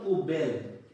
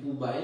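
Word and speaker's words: poubelle: এইভাবে উচ্চারণ হয়ে গেল পু বেল পু বেল তো যারা বলে থাকেন পু বাইল সেটা কিন্তু পু বাইল না উচ্চারণ হচ্ছে পু বেল তো এইভাবে আমরা অনেকে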